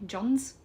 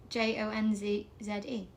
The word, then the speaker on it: Jonze: Jones? Jones. Jonze? Jones. Spike Jones. Jonze. Jonez. No, it's Jonze. Oh, sorry, yeah, Z-E.